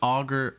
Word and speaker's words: Auger: And I even looked up the pronunciation because it's Auger.